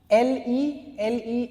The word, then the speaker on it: le: J'aime, L-E is pronounced as le, okay, so j'aime le cricket, I like cricket, I love cricket.